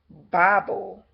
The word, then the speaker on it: Babel: Now, if you look up the word Babel and look at the phonetics of it, it's actually a short A, so it's actually pronounced Bible.